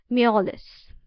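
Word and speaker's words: mjolis: Okay, the J is silent. So it is molless with his guest until bedtime.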